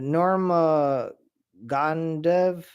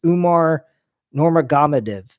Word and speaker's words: Umar Nurmagomedov: Abu Dhabi event is Umar not Norma Gondev, I think is how you pronounce his name. I'm really bad with pronouncing names. It's Umar Nurmagomedov, Gamadev against Corey Sandhagen.